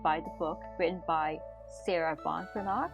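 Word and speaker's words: Sarah Ban Breathnach: As mentioned from the previous episode, this podcast is influenced by the book written by Sarah Von Branagh. I stand corrected, that's how her name should be pronounced.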